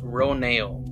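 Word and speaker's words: Ronal: about kate winslet's character roneo yes that's right they revealed the name is pronounced row nail so let's get into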